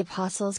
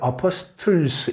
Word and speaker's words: apostles: 이 T가 묵음입니다. 그러니까 apostles 이게 아니라 apostles.